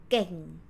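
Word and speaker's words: เก่ง: So that's why this word, ค่ะ, this word we pronounce geng. Geng. Start from g sound, which is the initial consonant sound.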